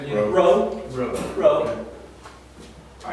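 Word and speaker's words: ῥῶ: Row. Wrong. All right, Hands so said again. row, Row. row.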